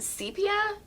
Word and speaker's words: sepia: So we're saying the word sepia, but some people say sepia. And you, well, she checked this. in about 30 seconds of research. Yeah, so it apparently is pronounced sepia.